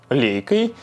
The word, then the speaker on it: Leica: всего сразу же оговорюсь я не буду выпендриваться и говорить что правильно произносить название лайк а потому что давно уже в русском языке стало общепринятым называть лейку лейкой во всех литературных текстах употребляется